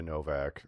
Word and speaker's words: Nowak: I guess usually that last name wouldn't the W be pronounced a V, and it's because it's like Germanic or Eastern European or something. And it would have gotten changed to Novak.